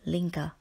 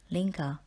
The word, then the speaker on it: linger: word number 17 is Linga the verb Linga means to be slow to leave for example the girl lingered in the forest enjoying the peace and warm sunshine the word Linga rhymes with finger word number 18 is